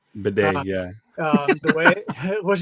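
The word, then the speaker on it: Badie: there and readded Tyler Baddy um or not bad or they the way he pronounces is Bedet. Bedet.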